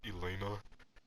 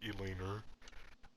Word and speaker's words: elena: sister like her name's elena but one time i mispronounced her name and like with an r at the end like elaine er and then like wait